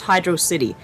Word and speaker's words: Hydrocity: think oh yeah oh yujinaka also recently tweeted that although he doesn't speak english he believes is pronounced hydro city yes okay i don't